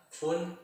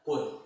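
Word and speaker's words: 分: Kemudian, untuk menit, dalam bahasa Jepang itu dibaca atau diungkapkan fun dan pun.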